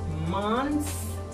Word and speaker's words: months: The 3 months is not months. It's not correct when you say that. When you have plural, do not pronounce the T sound.